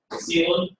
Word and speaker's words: coelom: It looks funny to spell it this way, coelom.